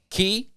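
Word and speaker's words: Cay: I'm so pumped about Castaway Key yeah I don't know why I want to call it that because it's spelled that way I almost want to say my brain tricks me and it's like I know it's key but I want to say k but anyway I'm looking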